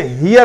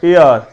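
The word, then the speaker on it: heir: اسے ہیئر نہیں پڑھنا, ار. ٹھیک ہے, ای ای ای آر, ایئر, ایئر. ٹھیک ہے, ایئر. اسے ہیئر یا کچھ اور نہیں پڑھنا, ایئر.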